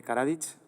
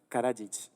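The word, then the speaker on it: Karadžić: E si no recuerdo mal, Paco, nos habías hablado de, bueno, de lo que pasó en Yugoslavia, de cómo se pronuncia el nombre de Karadich. Karajic, eh, que era psiquiatra, que era grupo analista,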